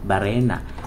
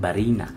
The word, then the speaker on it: barena: Halimbawa na lang yung salitang barena. So, tinatawag ko siya dating barina.